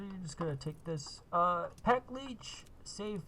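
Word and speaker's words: paklíč: So so you're just gonna take this pack leech safe. That's how you say it in Czech, because this company's Czech.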